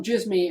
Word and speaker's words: Djismie: At Erik Van Djismie, and that is with a silent D.